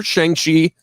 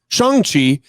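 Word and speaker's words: Shang-Chi: seen a trailer for shangshi changchi in the legend of the ten rings i've learned that is the correct pronunciation of the character's name shanxi um this new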